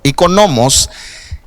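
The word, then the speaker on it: οἰκονόμος: vamos a ver ver no dice y con gnomos perdón porque lleva el acento en la o y con gnomos Y esa palabra la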